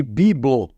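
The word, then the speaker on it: Byblos: para Grécia e aí os gregos chamavam gbla de biblo era a pronúncia da cidade em grego biblo e de tanto eles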